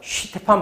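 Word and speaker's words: Stefan: t분의 최대 파장은 표면은 실제로 독일어입니다 슈가 아니라 슈테판 본체만에 법칙인데 요즘 뭐 이렇게 발음하기도 하더라고요 그건 중요하지 않고 단위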